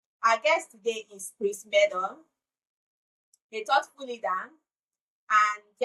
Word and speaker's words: Meador: Meador. Meador. Like Meador is better with cheddar.